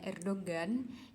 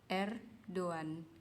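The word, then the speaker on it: Erdoğan: yaitu presiden erdo one Jadi kalau teman-teman pada bacanya Erdogan itu sebenarnya salah ya kalau dalam bahasa Turki Jadi dibacanya itu Er Doan gitu Hai kemudian next untuk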